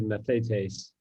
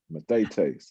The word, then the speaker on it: mathetes: I'm not sure about that, but I said Mathetes, but Hey, I like it. Mathetes.